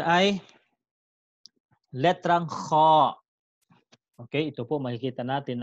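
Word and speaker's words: خ: yung tamang pagbigkas nito, ito ay pinagsamang K at saka yung H. So, paano natin sabihin? Paano natin bigkasin? Kha, kha.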